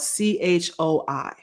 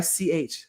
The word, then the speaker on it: Choi: was Jen Ci that we would say Choi because that's what it looks like to us because we're ignorant Americans, but it is really ch because the way it is spelled in Korean should be ch h ae if we were going to Americanize it or romanize it.